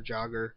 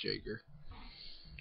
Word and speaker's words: Jager: Yeah, Jager. Or Jogger. No, it's Jager.